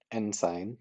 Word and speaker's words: ensign: Because in this one, it's first of all, it's on sign, it's not end sign. Um, but sure, whatever. Maybe that's just my accent, but ensign, let's say, sign is pronounced exactly sign, and okay, S-I-G-N, it's even spelled the same, and that's an N sign, no parking.